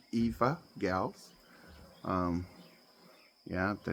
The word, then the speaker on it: Evagals: Eva Gals, we pronounce it Eva Gals.